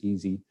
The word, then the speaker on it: EESSI: Uh we abbreviate that to easy pronounce it as easy.